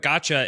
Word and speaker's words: gacha: Uh, real quick, Gotcha. It's spelled G A C HA.